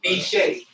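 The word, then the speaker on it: bicce: It was first pronounced B-Shay, and it was B-I-C-C-E.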